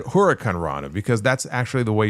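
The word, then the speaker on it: huracanrana: Yeah, no, Tawab, I said Huracan Rana because that's actually the way you're supposed to pronounce it. Huracan Rana. It's not H-O, it's H-U.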